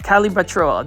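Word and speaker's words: Calibrachoa: I also love matcha as well and you can see right here some calibrochoa calibrochoa calibrochoa. That's how you pronounce it.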